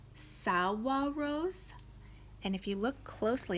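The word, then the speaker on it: saguaros: giant cactus plants called Salwa rose and if you look closely at that word there's a G in it but it's showing me how to pronounce it Salwa rose they held their red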